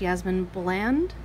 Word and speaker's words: Yasmin Boland: So the Moonology Oracle Cards Guidebook, I believe her name is pronounced Yasmin Boland.